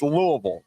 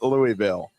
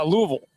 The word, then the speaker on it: Louisville: You got to say it like you're uh eating jello- or or like instead of it's Louisville, not Louisville. Yeah. Louisville. Yeah. Yeah. Louisville.